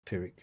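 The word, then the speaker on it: Pyrrhic: How do you pronounce that? I think you did a good job. That that sounds like that sounds correct to me, but it looks too cool to be pronounced normally. May maybe you add a little bit of a groove to it, like a pir, you know what I mean? Curl the R a little bit more. Apparently, it's just pronounced pirick.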